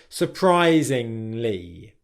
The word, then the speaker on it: surprisingly: There's not that sound. It's just surprisingly.